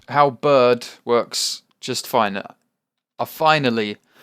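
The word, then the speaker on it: halberd: guys oh my god every time i edit these terra firma craft videos and i say halbrid i face palm so hard because it's hal bird how bird i keep saying it wrong and i keep hating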